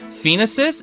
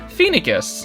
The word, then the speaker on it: Phoenicis: Apparently, what I was pronouncing as, like, Phoenicis is actually Phoenicus. I had to check, again, with freaking Heroes. I have Tabarn Heroes, and he said he's like the king of Phoenicus, and I was like, oh, thank you, that's